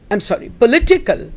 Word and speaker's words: political: Politician, political, the stress is on li.